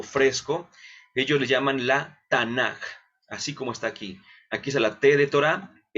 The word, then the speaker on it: Tanaj: Algunas veces la van a encontrar como Tanaj, con J. Esto se debe a una castellanización. Por la pronunciación, nosotros pronunciamos como K, por así decirlo, aunque a veces pudiese